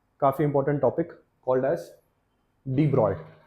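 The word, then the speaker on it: de Broglie: जी एल आई ई बट you don't have to read it एज डी ब्रॉग ली डी या फिर डू and then you गो फॉर ट्स ब्रॉय ठीक है सो डी ब्रॉय ने actually बात की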